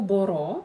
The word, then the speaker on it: μπορώ: «Боро», «меланхоло», «меланхолис» — это ударное окончание.